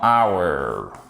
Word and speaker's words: hour: même chose que dans hour attention on ne prononce pas le H ici 5 décembre facile alors